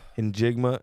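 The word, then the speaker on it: Njigba: In Jigma is how you say it.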